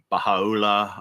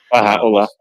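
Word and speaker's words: Bahá'u'lláh: The founder, Baha'u'llah, I'm not sure if I'm pronouncing that right. Baha'u'llah.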